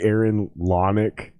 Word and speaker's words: Lanick: So It's actually Aaron Lanick, but yeah, Lonick.